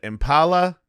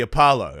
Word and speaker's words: Apollo: the is it the Impala? Is that how do you say it? Yeah, like the Apollo.